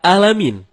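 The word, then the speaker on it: العالمين: segala kematian jauh berbeda begitu juga terkadang kita malas mencapai huruf Ain jadinya ketika kita membaca Alhamdulillahirobbil alamin malah dibaca alamin alamin menggunakan huruf Ain Ain artinya semesta alam nah kalau alamin artinya sakit kalau kita baca dari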